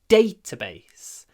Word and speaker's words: database: database so as usual when we have a word made of two nouns data and base the stress is on the first one database database database it's not